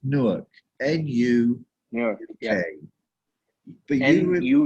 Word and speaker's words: Newark: as possible is okay i i don't it's pronounced newark and you yeah but you you you nwu